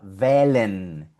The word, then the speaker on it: wählen: Aquí tenemos de nuevo la H, mira acá la H y después de la H ves una L, una consonante. Ahí no suena, es muda. Wählen, que es el verbo